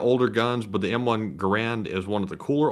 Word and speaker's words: Garand: that's how the guy's last name is actually pronounced get it right everyone it's not the ranch it's Garand all right let me stickler on that from